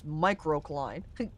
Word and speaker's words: microcline: It's microcline. Great crates. And then it rhymes. It's another piece of female anatomy, unfortunately.